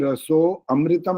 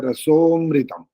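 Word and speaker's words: रसोऽमृतम्: यहाँ पर जब ओम आपो ज्योति रसो अमृतम नहीं बोलना होता, बोलने के समय में बोलना होता है रसोमृतम। रसोमृतम, वो जो अवग्रह है ना, ऐसे अ वाला चिन्ह है, वो यहाँ पर उच्चारण नहीं करना होता। अमृतम अलग से नहीं बोलना होता है।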